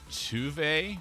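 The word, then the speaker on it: Tove: Funny thing about this character, her name is Tuve, but her name is spelled to like T O V E. It's like that's to not tu.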